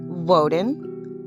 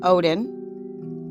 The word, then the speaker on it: Woden: However, there are a few ways to pronounce his name. Woden, Odin, Oen, and sometimes Woten.